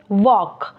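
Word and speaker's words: walk: ए एल के वॉक अब देखें एल इसमें हमने लिखा तो है लेकिन पढ़ने में नहीं है यानी कि लिखने में है पढ़ने में नहीं है एल इसमें साइलेंट लेटर हो गया है इसी हम इसे पढ़ेंगे वक इसी तरह नीचे जाएं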